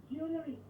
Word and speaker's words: jewellery: How do we pronounce this word? JEWELLERY, the thing that you wear. JEWELLERY. Jewelry. Perfect. Excellent.